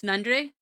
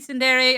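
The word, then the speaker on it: tsundere: Um, also the character trope was Sundre or Sundere. Technically, Sundere. I just don't like pronouncing it that way. It doesn't feel good on my tongue, even though I know I'm wrong.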